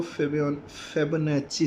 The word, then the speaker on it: Fibonacci: अब जो थर्ड हमारे पास जो सीक्वेंस आ रही है वो फेबोनाची सीक्वेंस। अब इसको प्रोनाउंस करते हैं फेबोनाची।